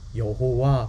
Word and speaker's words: 여호와: 어떻게 갈까 고민고민 하다가 아도나이 라는 단어 가운데 있었던 놈들을 빼다가 있 a 에다가 집어넣어 보니까 발음이 어떻게 되요 여호와 그렇게 발음이 되는 게 여호와 그러면은 우리가 또